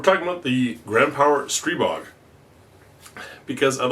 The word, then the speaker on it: Stribog: episode 36 we're talking about the grand power stre bog because I'd like to set the record straight on a few things first off the name stre bog that's how it's pronounced I've asked the inventor stre bog is